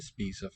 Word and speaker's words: spiser: The vowel is cut off somewhere before you get to the S.